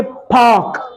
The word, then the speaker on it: park: इसी तरह PARK, British में बोलेंगे पार्क। क्या बोलेंगे? पार्क, पार्क, extra puff of एयर, पार्क, ठीक है।